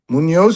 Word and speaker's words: Muniz: Is it Munoz? Munoz, but there's an I instead of an O.